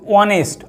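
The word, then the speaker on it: honest: Same এইটাও দেখো এটা কিন্তু অনেস্ট, আমরা কিন্তু হনেস্ট বলি না।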